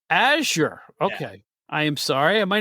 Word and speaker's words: Azure: me aor I mean I kill you I pronouncing it nobody nobody like ever says it right the first time it's Azure Azure okay I am sorry my name is